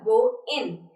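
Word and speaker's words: going: हाउ आर यू डूइंग आपने देखा जब मैंने प्रोनाउंस किया गोइंग एंड डूइंग तो उसमें जो गोइंग है वो शर्टन होकर हो गया गो इन और जो डू इंग है वो शॉर्ट होकर हो गया डू इन ठीक है सो व्हेन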